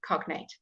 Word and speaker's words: cognate: yeah it would be cognate okay so that is very important so you would Cog Nate because they're two different sections of a word all right but if